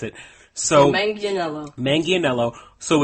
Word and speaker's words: Manganiello: menghia no man is off horses na janela manganiello but in the video he's cuz even Stanley's like how do you pronounce it so Manganiello Manganiello so it's stanley joe manganiello sexy Joe